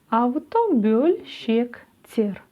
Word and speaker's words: автобөлшектер: Буква «Л» в данном случае читается мягко, как будто бы рядом с ней стоит мягкий знак. Вот такие дела. Автобөль. Дальше что у нас написано? Щек. Автобөлшек. Бөлшек. Автобөлшектер.